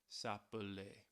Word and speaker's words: s'appeler: of the verb S'appeler We see that single "L" which is why it's pronounced S'appeler That single "L" does